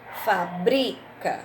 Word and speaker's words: fábrica: palavra tá bom então por exemplo ele trabalhava em uma fábrica de peças para carros ele trabalhava em uma fábrica qual é a sílaba forte pa depois eu tenho não se fabrica mais esse modelo de carro qual seria a sílaba forte aí fábrica tá na eu tenho